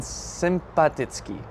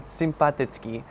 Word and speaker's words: sympatický: But the words are sympatia and sympatický. I hope I pronounced that right.